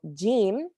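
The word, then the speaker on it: ج: a jelly button um so it has a j sound the way that you would say in jelly um so gim when you say it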